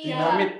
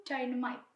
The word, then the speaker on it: Dynamite: Dinamit. Dinamit. Iya bener sih, tapi bacanya tuh Dynamite.